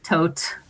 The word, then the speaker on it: Thoth: obsessed with the God Thoth tote however it's pronounced it's pronounced like five different ways I say Thoth t-o-t-h so the God Thoth